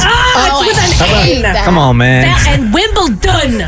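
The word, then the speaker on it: Wimbledon: come on man and wimbl dun with a d people and there's no t in it who is uh remind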